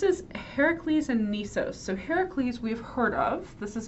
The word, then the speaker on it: Heracles: Heracles and niso so Heracles we've heard of this is a very famous hero in America where we like to mispronounce things we call him Hercules but it's Heracles is his name um this is cast